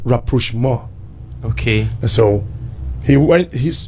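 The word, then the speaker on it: rapprochement: say how on Papa it's a French word okay it is pronounced rapo more okay so he went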